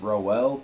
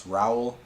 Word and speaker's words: Raul: I went into this series pronouncing it as Rowell, but I guess it's Raul.